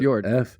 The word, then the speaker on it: fjord: It's literally fjord, FJORD. It's a fjord. fjord. Is that how Yep. you say that? Like Yeah, Bjorn? that's how you say it.